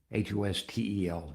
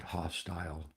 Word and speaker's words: hostel: H O S T E L, not hostile, hostel.